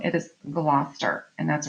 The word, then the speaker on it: Gloucester: Pronounced Gloucester. We're going to work on that. A lot of English place names and names elide consonants.